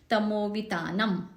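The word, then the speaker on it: तमोवितानम्: मुद्योतकम दलित पाप तमोवितानम, म एंड वाला जो म है आखिरी वाला वो हलंत है, आधा है, तो तमोवितानम, तमोवितानम ऐसे नहीं करेंगे। जैसे कि मैंने बताया था हलंत आधा है, उसका उच्चारण आधा ही होना चाहिए।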